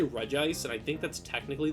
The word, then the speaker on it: Regice: Like if you call it like Regice, like I say Regice, and I think that's technically the correct way